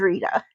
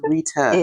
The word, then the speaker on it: Retta: This is Retta. Although people like to call me Retta because it's spelled differently, it is Retta. It is Retta. It is Retta.